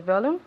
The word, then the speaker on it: volume: volume okay volume okay remember that the accent goes on the o volume okay not like in Spanish when you say no this is volume okay so repeat once